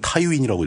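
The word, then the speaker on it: Tywin: 그 우리는 보통 티윈이라고 읽는데 그 미국식으로 읽으면 타이윈이라고 읽더라고요.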